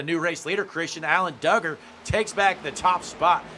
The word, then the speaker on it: Duggar: Now, Tana in the chat says Duggar pronounced like Doug, like you dug something up.